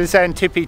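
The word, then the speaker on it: Xantippe: hey guys this is the zantipi tank spelt with an x it was built in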